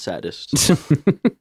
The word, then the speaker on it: Sadists: 2015 called the sadists the sadists yeah and pronounced saddest and uh we that